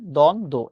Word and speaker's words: দ্বন্দ্ব: দ্বন্দ্ব শব্দের উচ্চারণ হচ্ছে দ্বন্দ্ব, এটা।